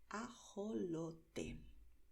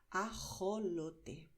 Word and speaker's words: ajolote: Puedes pronunciar ajolote, como acabo de hacer, pronunciando de manera suave con la garganta, igual que cuando en inglés dices hello. Es un sonido suave de garganta, pero hay regiones donde la gente pronuncia con más fuerza. Entonces la gente pronunciará ajolote. También es la garganta, pero es un sonido mucho más fuerte, ¿vale?